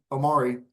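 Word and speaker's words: Omoruyi: excuse me Clifford uh Omari I'm I'm getting used to that pronunciation uh it has has been relayed to me how it is pronounced Grant Nelson Aiden Charelle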